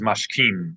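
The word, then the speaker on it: משכים: sha'ani, maskim, So maskim means agree, and this is mashkim, which means to get up early.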